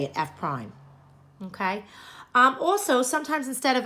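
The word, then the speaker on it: f′: F prime okay that's how you say it F prime okay also sometimes instead of f of X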